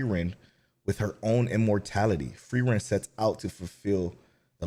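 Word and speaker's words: Frieren: to find it nope oh free rent is pronounced free rent I hate that free Rin I hate it so much okay I can't even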